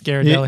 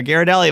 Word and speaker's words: Ghirardelli: Yeah, I went straight to the source because I didn't know myself, and it's Ghirardelli. You call the company, they're Ghirardelli. I'm like, got it. Thank you for calling Ghirardelli.